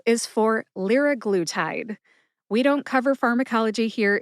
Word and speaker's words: liraglutide: Liraglutide has 4 syllables. Lir, like a Learjet. Which is a short A sound or a schwa A sound. Glue, like that sticky substance we use to stick 2 things together. Glue. And tide, like the ocean tide. Put all 4 syllables together and you get liraglutide. Emphasize lir and glue. Glue gets the most emphasis.